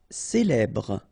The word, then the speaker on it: célèbre: Célèbre. Okay, first you get this E, then here you get the E, so célèbre. Final E not really pronounced.